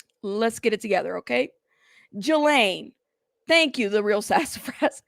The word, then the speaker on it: Ghislaine: Highline. Jane, stop. Not see, you're trying to make me say it wrong. Okay. Jelaine.